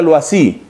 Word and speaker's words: Loisy: Su nombre es Loisy, y se pronuncia Loisy.